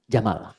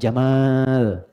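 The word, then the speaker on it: جمل: jantan maka namanya Jamal saya notice ya pendek bacanya Jamal bukan Jamal jamalun unta Jamal ganteng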